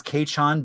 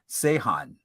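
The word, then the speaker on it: Quechan: Everything I found online says Kachan, but she was pronouncing it Sehan tribe.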